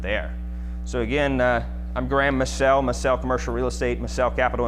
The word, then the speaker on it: Massell: And you folks know, am I pronouncing it right, Massell or Massell. Massell? Like, I'm gonna sell you some commercial real estate.